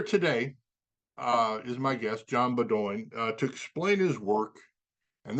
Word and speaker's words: Beaudoin: I'm going to do something right away and say that my name is Beaudoin. Beaudoin.